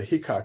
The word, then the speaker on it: Heacock: But I thought that the Heacock, I was thinking, did I say that right? Because I thought I had is right. Okay, good. Rhymes with peacock.